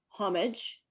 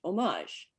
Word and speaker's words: homage: pronunciation of our title english homage french homage there's even a youtube